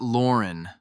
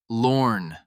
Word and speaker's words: Lorn: On the third item, she snapped, "Not Lauren, Lorn, one syllable."